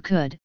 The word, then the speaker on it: could: known as lambda sysm in English orthography L and silent in such words as walk or could though its presence can